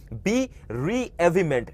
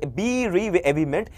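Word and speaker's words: bereavement: ওকে, next হচ্ছে বেরেভেমেন্ট বা বেরেভমেন্ট, এটাকে ভালো মতো দেখো, বি রিএভিমেন্ট, ঠিক আছে, এইভাবে উচ্চারণ করো, বি রে, বি রিএভিমেন্ট, বি রিএভিমেন্ট মানে হচ্ছে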